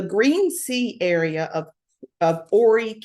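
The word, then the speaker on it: Horry: sea area of of Ory County South Carolina ory county not Hy like it's spelled she has three brothers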